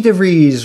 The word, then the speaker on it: DeVries: huge shout out to vicky devries rhymes with cheese who teamed up with